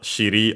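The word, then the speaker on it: 尻: Yeah, from behind, as in the buttocks, and because that shiri on its own, accent on the last syllable, then o accented on the accented, it's a single mora on its own tail.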